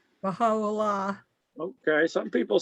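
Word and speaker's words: Bahá'u'lláh: This is the Baha'i Lala. Now, some people say that he claims to be, I can't pronounce it. Pronounce it for us? Baha'u'llah.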